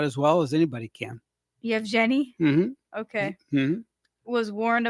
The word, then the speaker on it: Yevgeny: Yevgeny Prigozhin, the leader of the Wagner Group, is alive on an island in Venezuela, according to the Daily Mail.